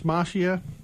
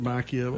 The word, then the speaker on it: Macchia: They would pronounce it Macchia. Yeah. My years of Italian class would tell me Macchia.